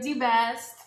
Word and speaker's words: Di-Best: Hi everybody, this is Di Beast. Am I saying it correctly? Yeah, that's it.